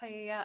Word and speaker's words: paella: It's pronounced paella.